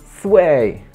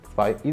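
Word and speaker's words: Zwei: Oni w ogóle nie czają, że to jest z niemieckiego i czytają Sway, Dray. Jakie Sway, Dray? Spy i Dry.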